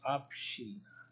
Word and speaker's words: община: You see, it's not a doubling, it's Obshchina. Община. I know it could not possibly be the Obshchina there.